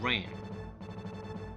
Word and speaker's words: Wren: Don't get too distracted by her last name, it's spelled W-R-E-N. So for now we're going to ignore the fact that it sounds exactly the same without the W, as in Kylo Ren, okay?